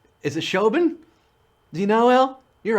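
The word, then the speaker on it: Siobhan: Bacon and something and Shoban 81. That's not how you pronounce that. That's an Irish name. It's like Saoirse Ronan. Is it Shoban?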